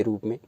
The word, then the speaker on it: रूपम: रूपम, पा में मा लगा हुआ है बिंदी के रूप में, तो रूपम हो जाएगा।